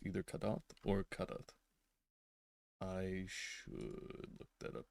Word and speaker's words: Kadath: Okay, I was very close indeed. Kadath.